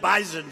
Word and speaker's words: Bison: I said, I thought it was an S. They said it is, but it's pronounced bison.